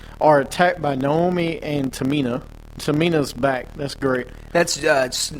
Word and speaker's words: Tamina: I was gonna say I would hate just pronouncing that name yeah it already annoys me when you said it twice it's Tamina I mean it's it's painful when you say